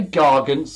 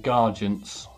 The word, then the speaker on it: Gargant: Is it Garge with a G-A-R-G-E? Or is it Garg? Just Gar, G-A-R dash Gant. Gargant. Is it meant to be like gargantuan? Gargants. Hard G. I don't know what that means. Gargant. Gargant. Gargle. As in gargle.